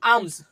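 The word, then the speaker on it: alms: আমস। এ মানে আ এম মানে ম এস মানে দন্তস। আমস আমরা এখানে লটা উচ্চারণই করছি না।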